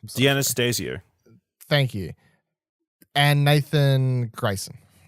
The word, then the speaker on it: D'Anastasio: Dinasio? D'Anastasio.